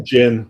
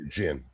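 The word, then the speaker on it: djinn: So, just say Jin like like the like the alcohol beverage. That's safe. Yeah. Jin. The D. We don't pronounce the D.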